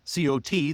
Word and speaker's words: caught: So cot c o t the little bed that you sleep on or folding bed and cot c a u g ht are often pronounced the same in American English even though they might be different in other accents caught okay or so